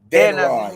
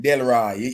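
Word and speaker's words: Denroy: Because we Jamaican pronounce name. Den Roy. Nancy, D-E-N Roy. Den Roy. But a lot of people call him Delroy. You know that, yeah, right? Them mix him up with Delroy Morgan.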